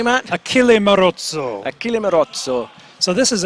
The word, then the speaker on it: Achille Marozzo: Did I pronounce that correctly, Matt? Achille Marozzo.